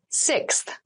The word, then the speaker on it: sixth: fifth floor don't you sixth sixth sixth so sixth refers to the number six of something this is a really good word to practice some pronunciation slow down that sixth that middle part there the sixth book from